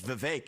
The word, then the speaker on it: Vivek: I say my name's Vivek, it rhymes with cake.